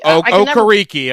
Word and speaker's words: Okereke: You let the linebacker, I can never pronounce his name, Bobby Okereke. Okereke.